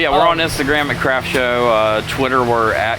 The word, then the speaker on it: CRFTSHO: And it's pronounced Craft Show. Like the craft, the company. And then show like a TV show. It's pretty cool. Yep. But yeah, we're on Instagram at Craft Show.